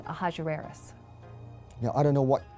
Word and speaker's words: Ahasuerus: His Persian name, in Old Persian, which is his original native language, is Shayarsha. Now that was hard for the Jews to pronounce, so they said Ahasuerus. We know him as Ahasuerus. And the Greeks said Xerxes, which is Xerxes, okay?